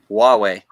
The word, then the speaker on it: Huawei: so Hugh Jass says Huawei is how it's pronounced okay well yeah Huawei and then Samsung's or